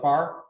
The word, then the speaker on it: Farr: Farr? Like not close, but far.